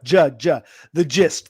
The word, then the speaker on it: gist: Do you know gist? Yes. It's pronounced with a hard j. The gist, the synopsis, the take, the overall.